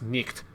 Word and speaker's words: night: That G-H-T sound that we now no longer pronounce in any meaningful way, back then would have been pronounced nicht, or night would have been knicht. So you would have originally pronounced the K and had this like sound for the G-H-T.